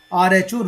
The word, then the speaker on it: rho: This is the Greek letter that is pronounced as rho. Okay, RHO, rho.